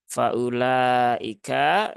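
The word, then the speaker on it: فأولئك: masih masih banyak yaitu wunya di sini tidak dibaca ya Jadi ini bukan waau Mat ya Ini bukan waau Mat sehingga tidak memberikan Efek kepada Hamzah yang dah menjadi panjang sehingga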